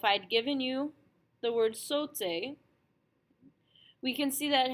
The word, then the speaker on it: sauté: A-U, which has to be pronounced O, and an E-R, which is pronounced A. Our S and our T we have no information about, and consonants are pretty much the same anyway, so they stay the same, and we can see that we should pronounce this word sauté.